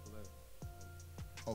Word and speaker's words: Khalil: Oh, they say it with the K more.